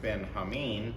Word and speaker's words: Benjamin: his father renamed him benjamin and as we discussed that maybe would more properly be pronounced ben hameen because of the uh hebrew term although actually the hebrews